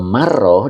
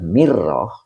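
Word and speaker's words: مرة: Kalau marrah dibacanya fathah mimnya maka artinya sekali ya. Tapi kalau dibaca mirrah, nah itu yang perlu kita pahami nih. Bik kasril mimi.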